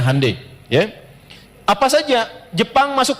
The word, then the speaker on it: Hyundai: bikin Honda dia bikin handundai ya ya Hyundai saya tahu bahasanya dibacanya hundai ya Apa saja Jepang